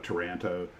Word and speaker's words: Taranto: um the the the the I don't know if you call it Toronto or Taranto or how you say it properly, but yeah, Toranto, but the Toranto raid